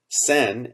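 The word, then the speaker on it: CEN: european committee for standardization or sen as its acronym from the french is pronounced and sen has a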